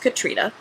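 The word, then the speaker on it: Catriona: as an author and she says it's pronounced Katrina and she has a lovely Scottish accent.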